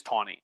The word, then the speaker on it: Taney: said the name is tawny and so it's not it's spelled t any why it's not taney it's tawny and so i hate